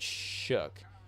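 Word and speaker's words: Shough: So Tyler Shook, even though his name is spelled O-U-G-H, there's no C or K in his name, but his name is pronounced Shook.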